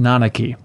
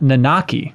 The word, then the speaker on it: Nanaki: went through they say now I know for sure that it's pronounced nanaki and not nakaki which is how I